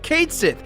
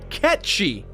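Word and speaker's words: Cait Sith: really annoying dude the game calls Kate Sethe Kate's it but the correct pronunciation is in fact catchy this is becoming a pretty big mess Reeve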